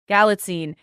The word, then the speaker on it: Galitzine: It's played by Nicholas Galitzine.